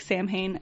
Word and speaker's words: Samhain: a tradition that they called Samhain, which is spelled like Samhain, Samhain.